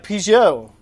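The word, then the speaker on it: Piggott: names like just smith or barry easy to pronounce names let's see we have pgo p-i-g-g-o-t followed by gudro g-a-u-d-r-e-a-u followed by baldwin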